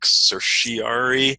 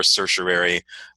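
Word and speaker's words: certiorari: some people say like cerseiari but that ignores like the r in the middle of the word uh so uh i i favor circulari uh you will hear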